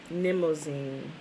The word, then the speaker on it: Mnemosyne: It's spelled M-N. You know, when the M and the N is next to each other. The M, most of the time, is silent, right?